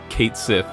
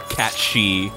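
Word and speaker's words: Cait Sith: Like, that's supposed to be a Kate Sith, or a Cat She, as it's, I guess, supposed to be pronounced.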